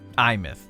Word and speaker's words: Aemeath: Imth. Okay, I must have been mispronouncing it this whole time.